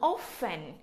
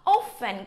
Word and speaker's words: often: Chúng ta có từ often là thường. Là thường. Often có hai cách đọc trong đây, thì người ta đọc là often và có cách đọc thứ hai là often.